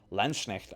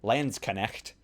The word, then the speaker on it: Landsknecht: Landsknecht arms, very, very nice. And I'm pronouncing that in the German fashion rather than saying Landsknecht or Landsknecht. Like, no.